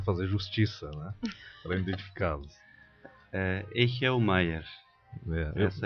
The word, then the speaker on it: Echelmeier: Echelmaier. Essa é a pronúncia então desse sobrenome.